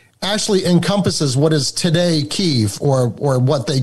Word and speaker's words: Kyiv: Well, Kyiv is the actual Ukrainian pronunciation of the word, and Kiev is the Russian pronunciation of the word.